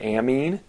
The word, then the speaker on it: amine: a type of compound called an amine you can also pronounce that amine and ammonia is kind